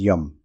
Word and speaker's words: Yam: middle the be mantra for this chakra is Yum pronounced as yum when anahata chakra is